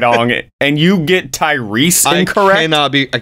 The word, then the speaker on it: Tyrese: Gibson ludicrous Jason M tyes Tyrese Tyrese I'm sorry I mispronounced it Tyrese Gibson tyres I don't